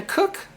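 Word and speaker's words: Koch: pilot Victor Glover, uh Christina Cook, name's pronounced Cook, experienced NASA astronaut, and Jeremy Henson.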